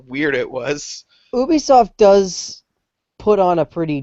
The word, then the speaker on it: Ubisoft: wrong then I just I learned this today that it's it's Ubisoft I leer because Dan Hammer was talking to me and he was like I had to learn how to say it properly because I've been saying Ubisoft forever do you know why it's Ubisoft um it's it's a it's a short for ubiquitous software that's why they go